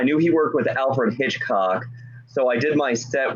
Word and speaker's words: Hitchcock: I would like to take you home and show you why they call me Hitchcock. Emphasis on the second syllable.